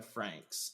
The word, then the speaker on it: Franxx: It's called Darling in the Franks, and it's Franks is spelled Franxx.